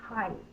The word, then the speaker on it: height: the long a sound our word is not hate it is height like how tall I am I I'm not sure why that is spelled that way in representing the I sound it could be word